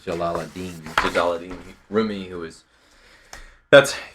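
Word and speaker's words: Jalal ad-Din: this poem by roomie how do you say his first name uh I say it Jalal Adine jalad roomie who is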